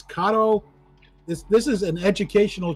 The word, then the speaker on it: Kato: Kato is actually pronounced Kato. Not Kato, Kato.